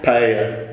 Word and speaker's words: paella: Yeah, paella. Do I pronounce it well? Paella. Paella.